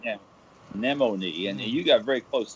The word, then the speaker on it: Nemone: Nemone. Nemone. The pronunciation is akin to a sea anemone. Okay. Of course, there's no A in the spelling of the name, but it would rhyme. Let's say Nemone.